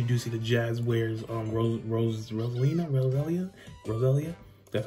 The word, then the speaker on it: Roselia: Just for relative size comparisons, you do see the Jazz wears Roselia, that's how you say it, and it's massive compared to it.